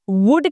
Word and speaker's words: would: चलिए, so guys, इस video के अंदर हम वुड के बारे में बात करने वाले हैं। WOULD, वुड। पहली चीज, इसको वुल्ड नहीं पढ़ते हैं, इसमें एल साइलेंट होता है, तो इसकी राइट प्रोनाउंसिएशन है वुड, वुड।